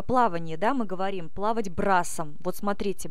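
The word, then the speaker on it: брасс: плавать брасом вот смотрите брас - это французское слово но с не читается на конце слово я это говорила уже в правилах чтения и мы просто произносим ра ра то есть с не произносим ра Угу дальше рост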